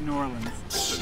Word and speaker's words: New Orleans: our first time in New Orleans Max it's pronounced New Orleans yeah right what do you expect to get